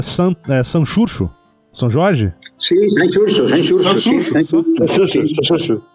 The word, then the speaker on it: Xurxo: E em galego, aí eu vejo Xurxo, cara, X-U-R-X-O.